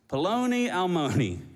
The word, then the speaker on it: Paloni Almoni: In Hebrew, it actually is, and it's gonna sound a little ridiculous to it because it rhymes, Paloni Almoni.